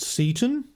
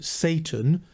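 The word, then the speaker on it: Seyton: murderer is Macbeth's servant Seaton. By the way, I prefer that pronunciation of his name rather than Satan, as I don't like to set up a kind of verbal echo of Lucifer.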